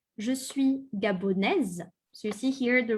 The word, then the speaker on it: gabonais: If you are from Gabon, but you are a boy or a man, je suis gabonais. Gabonais. Okay. The S at the end is silent.